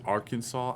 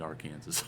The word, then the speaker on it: Arkansas: I I know it's I know it's Arkansas. I just feel like saying our Kansas.